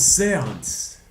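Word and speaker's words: séance: Oh, it's Seance.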